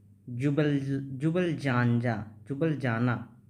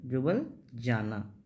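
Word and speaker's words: Ljubljana: ठीक है, उसके बाद हम लोग देखेंगे स्लोवेनिया का क्या है, जुबल जाना। ठीक है, एल से होता है लेकिन एल साइलेंट, जुबल जाना।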